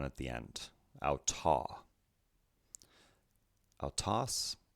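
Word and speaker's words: αὐτός: be our toss but since the second syllable is emphasized it's our toss now let's go to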